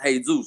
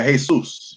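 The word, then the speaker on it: Jesús: mask in Spanish say they say like it's pronounced hey-zeus right yeah hey soos yeah so this J is making a sound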